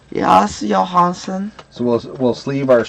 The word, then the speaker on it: Johansson: that close enough fer no it's not Johnson Johanson that's the way that's the Swedish way yes Johanson so we'll we'll sleeve our Swedish Johanson Johanson sleeved someone just